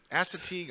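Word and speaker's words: Assateague: She says Asetig Island. I'm I don't know if I'm pronouncing that right. It is. She That's correct. Uh Estig Island is beautiful.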